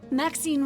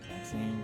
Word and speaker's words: Maxine: Maxine rhymes with queen after all. And dearest, that is hardly a coincidence. Maxine rhymes with queen. Maxine queen.